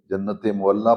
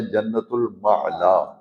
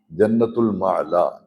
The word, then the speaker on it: جنت المعلا: عام لوگ اسے جنت معلا پڑھتے ہیں، لکھا ہی ایسے ہوتا ہے، لیکن اس کا پروننسیشن، تلفظ کم از کم جو درس میں بیٹھتے ہیں انہیں اچھی طرح یہ فرق معلوم ہونا چاہیے۔ اصل یہ لفظ ہے جنت المعلا، جنت المعلا، یہ مکہ شریف کا